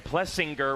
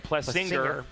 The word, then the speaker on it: Plessinger: and uh you know when we found out that Aaron plessinger was actually Aaron plus singer after calling his dad plessinger for 30 years absolutely and I said